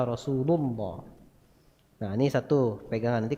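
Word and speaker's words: رسول الله: Makanya qala Rasulullah, enggak boleh baca qala Rasulillah, qala Rasulullah, enggak boleh. Bacanya qala Rasulullah.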